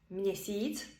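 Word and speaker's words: měsíc: для нас для українців якщо є гачкова не стоїть після м відбувається нотація читається це як мн приклади мнесіц місяць мсто місто мнякі м'який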